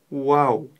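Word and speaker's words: واو: прослушайте вау вау вау в арабском языке нет буквы в Уау правильно будет произносить именно Уау вытягивая губы вперёд Уау буква Уау -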